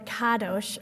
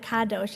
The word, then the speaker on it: Kadosh: it's named for the Kadosh family, who pronounce it like that, Kadosh instead of Kadosh.